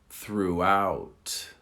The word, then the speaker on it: throughout: Through, throughout. Through, throughout. Through, throughout. So the accent on the second one is on the second syllable, not the first.